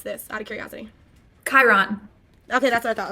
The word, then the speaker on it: Chiron: How do you pronounce this, out of curiosity? Chiron. Okay, that's what I thought. Okay, Chiron.